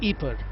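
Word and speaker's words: Ieper: the city of April or Ebert as it is locally pronounced in flemish was the scene of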